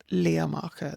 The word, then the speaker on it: Liath Macha: with Ard Macha, with Mesred Macha, and with Lea Macha, the Grey of Macha.